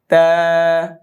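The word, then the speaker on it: ت: ছেড়ে দিবেন বা নেক্স তা জিহ্বার আগা দাঁতের গোড়া সামনের দুই দাতের গোড়া তা আবার বলেন তা এটা যেন ত মোটা না হয়ে যায়। হ্যা পাতলা তা নেক্সট ফা জিহ্বার আগা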